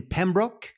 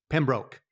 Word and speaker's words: Pembroke: and entrepreneur based in Pembrook is it Pembroke or Pembrook how do they say it Pembroke yep broke Pembrook Massachusetts I have